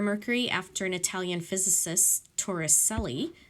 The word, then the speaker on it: Torricelli: They renamed the millimeter of mercury after an Italian physicist, Torricelli, or Torricelli, however you want to pronounce it. I think it is Torricelli.